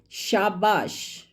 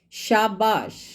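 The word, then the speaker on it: शाबाश: This sh is called talavya sh in Hindi. Hindi word shabash, shabash uses this sh.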